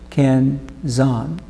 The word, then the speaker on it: kenzan: The Japanese word kenzan has 2 syllables, kenzan. Sometimes in the United States, it is called pin frog.